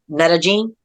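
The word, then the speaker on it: Medellín: And if I'm saying it correctly, Medellin.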